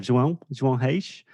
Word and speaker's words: João Reis: I'm great and so happy to hear you pronouncing so well my name. João Reis is definitely a challenge. It's a Portuguese challenge for any non-native.